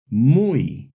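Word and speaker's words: muy: But when Y appears within or at the end of a word, it often acts as a vowel sounding like the English e like in the words oi, mui, reay.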